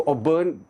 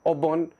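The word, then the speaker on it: auburn: इसको ऑबर्न American pronounce करते हैं और ऑबर्न ब्रिटिश प्रोनाउंस करते हैं, ऑबर्न।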